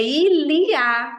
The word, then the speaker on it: il y a: O tem, né, de maneira geral, frase sem sujeito, é ilia. Esse Y tem som de I.